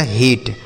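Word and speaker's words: hate: एच से पढ़ेंगे आपका ह। अब ए का उच्चारण बच्चों हम ए की मात्रा करेंगे। क्यों? बच्चों अगर ए कहीं पे लिखा हो उसके बाद लास्ट में अगर इ लिखा रहता है तो हम ए का उच्चारण ए की मात्रा करते हैं। ठीक? और टी से करेंगे ट और लास्ट में इ रहता है तो उसे नहीं पढ़ते हैं। तो यह लिखा गया हेट।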